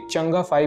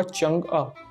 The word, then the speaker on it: Chang'e: साइंसकारी के इस एपिसोड में हम चीन के चंगअ-5 मिशन की बात करेंगे। इसे अंग्रेजी में चंग-ई लिखते हैं, लेकिन इसका सही प्रोनाउंसिएशन चंगे नहीं है, ना ही इसे चेंज बोलते हैं। इसका सही प्रोनाउंसिएशन होगा चंगअ।